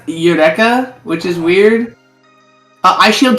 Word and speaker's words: Eureka: Oh, Erica 7 came out 2005. Okay, Kind of heard of that. Eric? Erica 7's Eureka 7. Is it not Eureka? It's pronounced Eureka, which is weird.